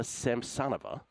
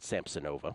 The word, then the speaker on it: Samsonova: Moyuka Uchijima, I have at plus 261 against Ludmila Samsonova. I used to pronounce it Samsonova, but I'm told it's Samsonova. Again, numbers play.